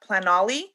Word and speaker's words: Planoly: I know I use like they have plat I don't know if I I'm saying it right, but plat planoly or planoly?